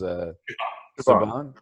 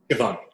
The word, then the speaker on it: Siobhan: So I can never pronounce her first name. Miss Williams. Siobhan. Siobhan.